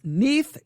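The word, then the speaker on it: Neith: belonging to the goddess neath that's n-e-i-t-h it's pronounced neath n-e-e-t-h is how it's pronounced neath she is bull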